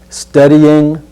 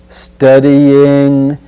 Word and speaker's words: studying: this sentence for example studying studying notice there's no hard g at the end of the word just studying studying history